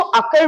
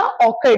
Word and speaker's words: occur: अब देखिए इसको अकर बोलिएगा, ऑकर नहीं, क्योंकि OCCUR होता है, बहुत बार इसका प्रोनाउंसिएशन लोग ऑकर बोलते हैं, अकर।